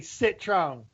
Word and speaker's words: Citroën: It's gonna be Citron. That's how you say it.